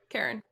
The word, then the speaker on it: Charon: I always forget how to pronounce Karen, that. I believe, yeah. Karen.